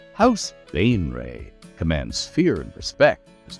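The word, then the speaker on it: Baenre: you might want to beware, because this house, Bainray, yes, that's how they're pronounced, Bainray, House Bainray, commands fear and respect, has done so for a long time.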